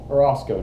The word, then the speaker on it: Orosco: okay today we have here with us tony orozco did i pronounce that correctly yes sir sir amen um